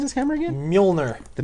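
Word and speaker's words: Mjölnir: How do you pronounce his hammer again? Mjolnir. The Mjolnir.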